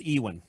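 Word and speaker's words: Iwan: It's Welsh, so it could be pronounced anything. I actually did some research on this. It's Ewan.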